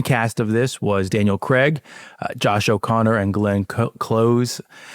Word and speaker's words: Craig: And Daniel Craig is on Stephen Colbert, and he underscores him that he mispronounces his name. They call him, in America, we call him Daniel Craig, like C-R-E-G, Craig. He's like, it's Craig.